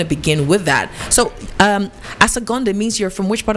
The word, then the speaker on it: Asogonnde: So the name is, you're going to help me pronounce the last name. Asogonnde.